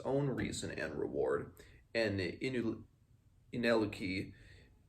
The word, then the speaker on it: Ineluki: reason and reward, and Ineliki, I'm going to have so much trouble pronouncing, it's Ineluki, Ineliki. I'll just say Ineliki.